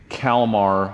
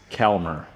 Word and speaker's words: Calmar: And I was pronouncing Calmar Iowa incorrectly. It's Calmer.